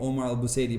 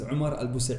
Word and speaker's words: Omar Al Busaidy: example you know you you pronounce my name Omar Elba Sadie but actually my name is Omar al busa really so that's how